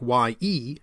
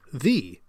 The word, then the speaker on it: ye: So what looks like Y-E, ye, was actually thorn-E, the.